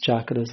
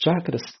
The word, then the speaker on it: chakras: coisinha a respeito dos chakras. Os chakras. Chakras. A pronúncia é essa. Tchá. Tchá. Chakras.